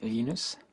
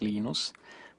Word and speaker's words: Linus: Um, when I speak Swedish, it's Linus. When I speak Finnish, it's Linus. When I speak English, it's Linus. And I really don't care how people pronounce my name, but Linux is always Linux.